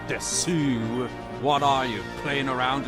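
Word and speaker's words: です: You know, since learning Japanese is just like really stands out to me is like desu is usually just pronounced as des.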